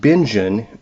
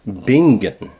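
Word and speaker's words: Bingen: Kiligard's name wrong. She said it's not Benjen, it's Bingan.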